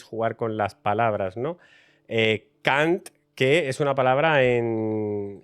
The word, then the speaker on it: Kant: con las palabras no K que es una palabra en en maltés que significa cantando pero se pronuncia igual que otra palabra en inglés que significa otra cosa muy distinta y básicamente sirviendo pues